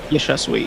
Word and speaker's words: Yashasvi: How do I pronounce the name? I do beg your pardon. Yashasvi, yeah.